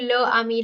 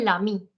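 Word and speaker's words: l'ami: it becomes Lai and a lot of students make a mistake of saying La Ami La Ami that is wrong you have to say Lami this gets combined with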